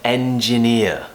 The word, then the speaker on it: engineer: ears so I'm an engineer so practice going from a big smile into that very relaxed schwa sound at the end engineer the next one that